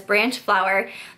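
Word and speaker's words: Branchflower: by Laura Branch flower I always want to say her last name wrong but it's branch flower this was a book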